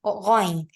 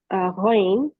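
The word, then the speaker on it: غ: They should be pronounced from the very upper part. And when we are pronouncing them from the upper part, we are going to feel the vibration over there.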